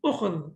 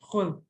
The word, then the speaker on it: خُذ: So it should be ukhud, okay? But what the Arabs did, they said, okay, we find it difficult to pronounce, so we will only pronounce it as khud.